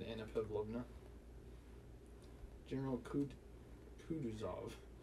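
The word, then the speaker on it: Kutuzov: anna pavlovna general kud kuduzov said volkowski speaking french and stressing the last syllable general's name like a frenchman has been pleased to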